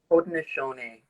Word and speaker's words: Haudenosaunee: Malika Ari, the woman who walks in the light, is a Handasari. Did I say that correctly? How do I pronounce that? Haudenosaunee.